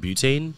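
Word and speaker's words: betaine: htl things like that what happened what's called butane b t a i n e HL that's one there's um I was pronouncing it wrong I just didn't know that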